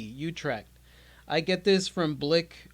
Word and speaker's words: Utrecht: I don't even know how to pronounce this. It's Utrecht. Utrecht.